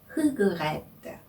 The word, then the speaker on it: regrette: 첫 자음이 R, 영어의 R로 시작을 하지요. 네, 프랑스어에서는 이 R을 R라고 부릅니다. 네, 이 R가 한국인이 가장 발음하기 어려워하는 프랑스어 발음 중에 하나인데요. 아침에 가글 하실 때 목구멍 안쪽에서 하는 이 소리가 바로 이 R의 발음입니다.